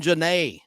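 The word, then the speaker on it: Genet: the blacks by Jean Jan Jean Jan is spelled j j a n Jan G NE T the t is silent and he was there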